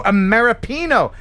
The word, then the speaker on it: Ameripino: Ameripino. Oh, Ameripino. Oh, yes, of course. American and Filipino, right?